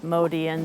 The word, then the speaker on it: Motian: So the family name is Motian, that's how it's been pronounced.